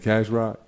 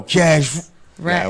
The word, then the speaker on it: Cash Rack: I'm like, Cash Rock? Yo, Cash Rack is Rack.